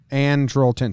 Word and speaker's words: Andrelton: Andrelton.